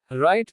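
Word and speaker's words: write: W is silent before R or in some words. जब W R के पहले आता है या कुछ अन्य शब्दों में तो W का उच्चारण नहीं होता। राइट लिखना।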